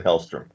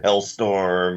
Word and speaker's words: Hellstrom: MCU's version of Ghostbusters with Damon Hellstrom. And it can even be a running bit that people keep mispronouncing his name. Damien and Hellstorm.